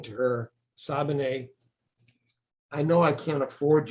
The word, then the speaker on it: Sabine: You've teamed up with the international actress Sabine Rossbach. She reads. How did you pronounce that? Sabine. Sabine. I said Sabine, didn't I? Sabine. That sounds more French.